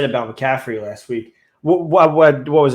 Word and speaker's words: McCaffrey: I think even with McCafferty on the team Sean I feel like I'm pronouncing his name wrong do I say it right it's a McCaffrey McCaffrey yeah add it any in